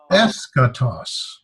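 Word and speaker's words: ἔσχατος: All that means is that's where we put the accent when we pronounce it. So this is eskatos.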